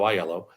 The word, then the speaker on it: Aiello: when someone says hello my name is iello thank you for pronouncing it correctly by the way Rebecca and